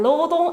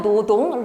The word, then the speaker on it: 노동: 차이가 나냐 아 아시잖아요 로동 아니고 노동 로인 아니고 노인 자 그렇게 발음하는 건데 그 조항이 몇 번에